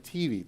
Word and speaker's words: Mattive: How do you pronounce your last name? Mativi.